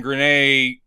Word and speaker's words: Grenier: But Arsenal would imply, like, I kept waiting for at some point Adrian Grenier. Is that how you pronounce his name?